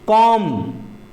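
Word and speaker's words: comb: कहते हैं हिंदी में तो इसको हम लोग कॉम पढ़ते हैं बी को भी पढ़ लेते हैं लेकिन ऐसा नहीं होना चाहिए ऐसा नहीं होता है बी यहां पर साइलेंट होगा चकि रूल के मुताबिक बी से पहले क्या है एम है इसलिए य पर होगा कॉम सीओ एम कॉम कॉम नहीं होगा कॉम तो यहां ब सेलेंट होगा उसके बाद है दूसरा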